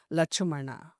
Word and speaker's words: Lakshmana: It is known as Lachumana. And Mruga, this Vatakshara, that too particularly from Sanskrit Aksharas, Muruga. Because tongue twisters, they are all. Lakshmana, to pronounce, it's difficult. Lachumana is easy for tribal people.